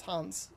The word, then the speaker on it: Hauns: It's, is it Hauns? It is Hauns. Perfect. I actually pronounced it right, too.